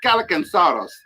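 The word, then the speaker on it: Kallikantzaros: It's hard name to pronounce, but it's Calicansaurus.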